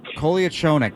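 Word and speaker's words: Kolyachonok: Kolia Chonick.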